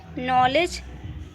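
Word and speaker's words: know: और यहाँ पर भी देखिए नो, के बाद एन आया हुआ है तो यहाँ पे भी के साइलेंट है, इसको हम नो पढ़ेंगे।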